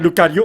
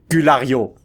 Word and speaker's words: Lucario: Méga Lucario, j'allais dire Culario. J'allais mal prononcer son nom.